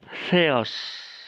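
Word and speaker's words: θεός: Di sini ada theos ya, theos. Transliterasinya menggunakan TH. THEOS ya. THEOS. Tapi membacanya bukan theos ya.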